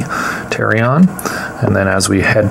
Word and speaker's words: pterion: And this right here is known as pterion. Spelled with a P, pterion.